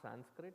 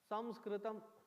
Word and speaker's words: Samskritam: First of all, it is not Sanskrit, it is Daurbhagya sthiti ours is we write our language in English and pronounce it in English. Dusthiti. How should that word of that language, ancient language, be pronounced as? Samskritam.